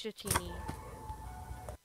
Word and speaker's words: Dratini: No, it's Dratini. Mile? I still don't know how to pronounce any of these.